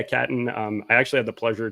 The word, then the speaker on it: Catton: I almost said cotton. That's why I kind of stumbled. I pronounced it Catan. I pronounced it Catan for a long time, and the most famous board game ever. But yeah, Catton.